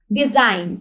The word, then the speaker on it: design: ठीक है, अब यहाँ पे देखते हैं फर्स्ट हमारे पास वर्ड है CLIMB, क्लाइंब। क्लाइंब है, ये बी जो है हमारे पास क्या है, साइलेंट लेटर है।